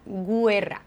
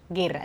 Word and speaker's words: guerra: fais bien attention ici le U je ne le prononce pas je ne dis pas gouera je dis Guerra donc c'est un U